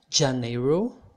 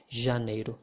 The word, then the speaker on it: janeiro: you pronounce janeiro so pay attention to the way you pronounce the letter j it's not like janeiro okay it's more like